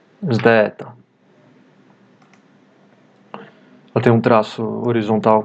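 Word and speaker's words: ζήτα: Tem som de um Z com um D logo em seguida. Z. Zdeta.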